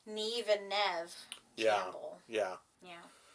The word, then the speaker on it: Neve: He said it's a common mispronunciation, just like Neve and Nev Campbell. Yeah. Yeah. Nev Campbell and Neve. Somebody said Neve Campbell and she corrected him.